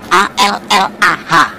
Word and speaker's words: Allah: Cuma dia membacanya, ngejanya beda sama kita. Kalau kita cukup Allah gitu, Kayak bercanda sama temannya, Allah lo gitu aja tersinggung gitu ya. Kayak begitu ringan gitu. Bacanya itu ringan. Tapi kalau mereka itu terpengaruh dengan bahasa Arab, jadi nggak ringan. Allah. Nah gitu.